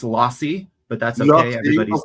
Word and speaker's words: Losse: So for the benefit of our British UK audiences, listeners, tell me who is Scott Los. Um oh so it's actually pronounced lossi but that's okay.